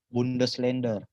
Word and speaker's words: Bundesländer: Hati-hati, ada umlautnya. Bundesländer. Ya, terus masih ingat tadi kalau huruf R di belakang jadi huruf A, berarti Bundesländer.